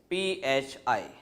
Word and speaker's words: Phi: symbol that is Phi spelling is pH I the pronunciation is Phi this is small Phi